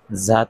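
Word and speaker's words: ز: যা জা যা এর মাখরাজ জিহ্বার আগা সামনের নিচের দুই দাঁতের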